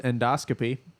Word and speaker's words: endoscopy: It's pronounced endoscopy, not endoscopy.